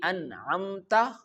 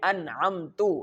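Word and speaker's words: أَنْعَمْتَ: The second one is an'amta, the changing of vowels. Here the ta have a fatha on it, and if I can say an'amta, it means Allah gives favor. But if I change the fatha with dama and I recite an'amtu, it means I gave favor.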